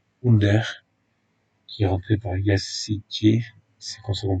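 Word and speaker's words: Yazıcı: Mais c'est surtout Under qui est rentré par Yassiti, c'est comme ça qu'on prononce, le joueur de Lille, qui a essayé,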